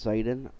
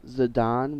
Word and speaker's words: Zidane: until uh the Brit the English football player's name zidane was pronounced on American television in news articles and